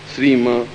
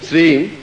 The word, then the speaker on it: श्रीं: इसमें प्रत्येक में म ध्वनि आई है, ध्यान रखना। जैसे क्लीम श्रीम रीम, और जिनको नहीं आता